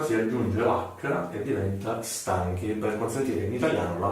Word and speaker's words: stanchi: essendo una cifra si aggiunge racca che diventa stanchi mi parlano la pronuncia nel modo corretto abbiamo poi la seconda